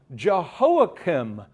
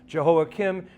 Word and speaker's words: Jehoiakim: Even though in Hebrew, it's pronounced with the heart. It's like this. Jehoiakim and Jehoiachin. It's a guttural. It's hard, guttural. But just in English, just remember, Kim had chin.